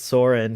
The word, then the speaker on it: Sauron: When do you think we'll meet Sauron? If it's not Adar. Isn't it pronounced Sauron? They pronounce it Sauron. Or I like how the main Weta guy says it's Soren.